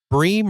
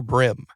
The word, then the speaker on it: bream: But bream or brim? It's definitely brim. Definitely brim.